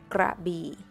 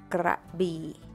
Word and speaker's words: Krabi: Another city that most people can pronounce correctly is Krabi, Krabi, Krabi.